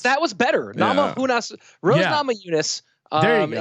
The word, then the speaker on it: Namajunas: that you really think that that's how you pronounce the last name of Rose. Just really go through that one again. Namajunas. That was better. Yeah. Namajunas.